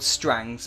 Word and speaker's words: Strange: were part of, Lord Strang's men, which is spelt Lord Strange, but awesome as that sounds, it was pronounced Strang.